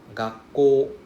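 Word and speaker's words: がっこう: Remember, you see the OU? OU means it is a long O sound. And then we see double K. So that means the first K will pronounce together with the first part, right? So the first word is ga. Ga. If I have a K, then it's gak.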